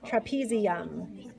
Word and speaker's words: trapezium: This bone rhymes with thumb. Trapezium.